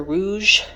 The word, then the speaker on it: Rogue: have their own website I don't know if it's Rogue or Rouge I think it's Rogue it's spelled r o sorry see if you can see it r r o g u e so I think that's Rogue so I have Rogue